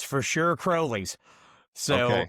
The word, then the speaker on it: Crowley's Ridge: It's It's for sure Crowley's.